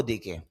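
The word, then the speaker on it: the: TH এর উচ্চারণ দা হয় এবং দি হয়, উভয়ভাবে পড়তে পারেন। TH এর পরে যদি ভাওয়াইল আসে তখন দি উচ্চারণ করবেন। এখানে ই এটা ভাওয়াইল, এই জন্য দি উচ্চারণ করেছে। আর কনসোনেন্ট আসলে দা।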